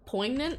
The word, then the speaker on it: poignant: Poignant? Not pregante. No, not that one. Also not Gregante. I pronounced it right the first time.